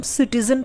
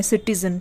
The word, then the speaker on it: citizen: उसी तरीके से CITIZEN, तो इसमें सी के बाद आई है तो सी का उच्चारण स हुआ। हम सिटीजन पढ़ते हैं, सिटीजन।